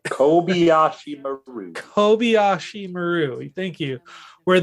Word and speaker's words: Kobayashi Maru: I think back to the Kobe Marashi Maru. Oh my God, I can't even say it right. Kobayashi Maru.